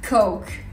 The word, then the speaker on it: Coke: Lorsque vous voulez commander du coca, il faut bien dire coke. Coke. Il se prononce vraiment comme ça, vous insistez. Parce que si vous dites coq, à la française vraiment basique, comme quand je suis arrivée, ça veut dire tout autre chose.